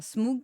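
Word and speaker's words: Smough: Genre, Smoog, classe.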